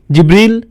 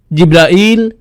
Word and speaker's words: জিব্রাইল: জিবরিল, জিব্রাইল, জিব্রাইল, জিব্রাইল, জিব্রিল, এই 5 ভাবে তার নাম উচ্চারণ করা হয়।